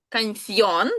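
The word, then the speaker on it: canción: Кансьон. Так, у нас тут, пам'ятаєте, дівтонг. Так. Е, і читається як її.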